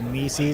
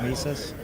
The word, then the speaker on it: Mises: Like all the people that say mees instead of mises which includes Jake Porter.